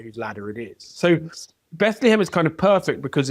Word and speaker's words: Bethlehem: Francis of Aisi uh visits Bethlehem which he insists on pronouncing Blehem. He pronounced it like a sheep.